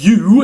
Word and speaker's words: U: just oo or but u. In fact, that's the name of the letter. We call it u, not oo today in English.